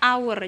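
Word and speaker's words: hour: fun saatnya satu jam tulisannya hower tapi kita bacanya our jadi tetap dia menggunakan n karena awalan bacanya huruf a sedangkan contoh disini University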